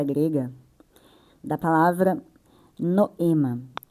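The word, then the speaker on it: νόημα: Primeiramente eu vou trazer o significado da pronúncia grega da palavra noema, a pronúncia noema, né? Noema. Então, gente, o no ele é mais eh enfatizado.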